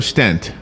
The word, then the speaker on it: stent: it does and I know you talk about stints in the book or it's pronounced stint or stent stent stent okay um so what what do